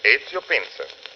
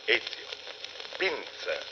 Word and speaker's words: Ezio Pinza: Is that the way you pronounce it? That is right. Ezio Pinza. How's that again? Ezio. E-Z-I-O. Ezio. Pinza.